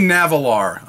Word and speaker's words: Nahvalur: r let me stop right there the name navalar all right i'm still struggling with it because